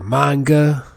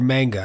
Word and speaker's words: manga: you gotta read the manga. Is it manga or manga? I think the proper way to say it is manga.